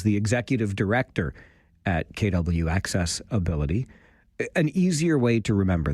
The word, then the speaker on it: AccessAbility: I had the distinct pleasure last evening of spending time with my friends from KW AccessAbility. I always try to emphasize the name of the organization that way, AccessAbility, because if you think